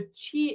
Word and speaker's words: Qi: I I personally explain is to say the chi is the Life Energy so you spell it Qi and the life energy and there